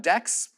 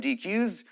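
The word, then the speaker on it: deque: some people call them decks some people call them dqs if I called it a DQ I would probably put another uee on there but that's what I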